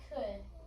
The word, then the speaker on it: could: in our word could it's irregular because we have our o u l our o u would normally say Al and our L over here you know normally would say o but our L is kind of silent and our oou says could so if we know